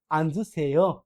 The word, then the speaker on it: 앉으세요: তাহলে এটা উচ্চারণ কেমন হবে? আনজু সেও, বসুন।